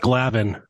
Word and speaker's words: Gladden: they talk about Dan Gladden at any point I know they did nobody called him Dan it's Danny what are you you're out of your mind not Danny Gladden it's called pronounced glavin he only scored the most